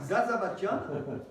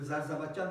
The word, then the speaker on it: Zarzavatdjian: Zarzavatian, avec le Zarzavatian de la prononciation arménienne, hein, un nom à coucher dehors.